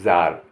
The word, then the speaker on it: tsar: TSAR यहाँ इसको कहेंगे जार, जार माने रूसी शासक।